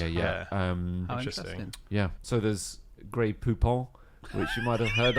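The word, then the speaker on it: Grey Poupon: call it gray Poupon gray Poupon to rhyme with coupons um have you not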